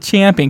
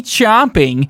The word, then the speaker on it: champing: the correct origin, and it's actually champing at the bit because... Yeah, I was torn there too because But it was so pretentious of you to pronounce it champing. People still say chomping, even though that's not where it's derivative from.